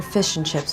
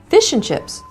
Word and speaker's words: fish and chips: Fish and chips. Yes, exactly. Why do you put the accent on the fish?